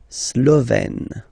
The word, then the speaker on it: Slovène: Remember, E accent grave, you open it, Slovène.